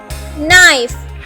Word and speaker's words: knife: For example नाइफ, KNIFE, नाइफ। तो N से पहले यहाँ पर K है, तो K की कोई भी आवाज़ नहीं होगी, हम K को यहाँ से साइलेंट कर देंगे।